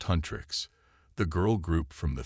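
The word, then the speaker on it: HUNTR/X: Hunter/X, pronounced Hunrix.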